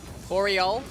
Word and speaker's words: BRL: Boreal. Boreal. Boreal. Boreal. It's like okay, so it's like Boreal. It's like kind of. Oh, it's like Oriel.